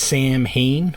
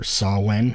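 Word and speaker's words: Samhain: should start with the next album is s Sam Hayne or sawn 3 November coming fire again by Sam Hayne or sawen however you want to pronounce it and yes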